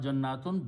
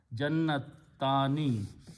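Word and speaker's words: جنتان: Not jannatun, but jannatani. Jannatun is multiple. Jannatani, like walidani. So we add jannatani. We add this word alif and noon at the end, and it is pronounced as jannatani.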